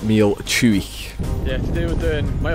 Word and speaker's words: Meall Chuaich: in the video but it is pronounced meal chewy yeah today we're doing